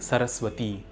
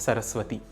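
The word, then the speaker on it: सरस्वती: In the last line, it is Saraswati, not Saraswati. It is Bhagavati and not Bhagavati. One also needs to be careful while pronouncing the word Nihshesha.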